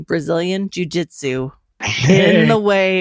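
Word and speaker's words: Jiu-Jitsu: I'm gonna finish this off by saying Brazilian Jujitsu the way it's supposed to be pronounced thank you everybody for listening Scott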